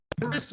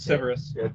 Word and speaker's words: Civerous: i think you pronounced the band service or am i way off no it's severus all right cool cool